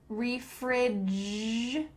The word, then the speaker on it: refrigerator: refrigerator, refrigerator. Where is that coming from that end? There is a T, and that T is changing to a D.